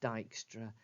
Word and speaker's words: Dijkstra: called Dijkstra that's how that first word is pronounced Dijkstra and a star Dijkstra is a way of working out the shortest